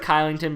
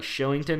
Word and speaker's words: Kylington: Heinen with good positioning blocks and pressures Shillington, or like it's pronounced like it looks like Kylington, but I'm pretty sure it's like Shillington or something at the point,